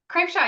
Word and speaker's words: Krapcha: happy to be here and I hope I pronounced your name correctly KRA Shaw yes you did I was like this is